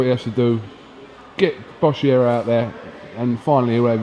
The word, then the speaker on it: Boschiero: Boschiero. No swearing. Get your lips around the Italian pronunciation.